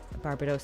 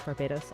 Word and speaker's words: Barbados: end okay oh well i believe both pronunciations of barbados slash barbados are correct the anime says uh